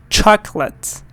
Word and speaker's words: chocolate: vegetables and then here you have again two syllables chalk let's chocolates chocolate do you like chocolate and here General